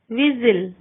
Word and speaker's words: whistle: T is not pronounced in these common words: castle, Christmas, frozen, listen, soften, hasten, rapid, whistle.